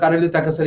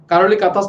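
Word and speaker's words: Károly Takács: ঠিক আছে, কারেলি তাকাস, ঠিক আছে, কারোলি কাতাস না, কারোলি তাকাস হবে উচ্চারণ, হাঙ্গেরিয়ান প্রনাউন্সিয়েশন।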